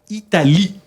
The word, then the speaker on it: Italie: Depende, mira, cuando hay una E al final, no se pronuncia. Se pronuncia la E al final Sí. solamente si lleva una tilde, ¿vale? Si no lleva tilde, no se pronuncia. Italie, ¿vale?